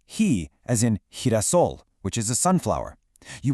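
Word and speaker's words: girasol: Whenever a G is followed by an E or an I, it completely transforms into that soft breathy sound.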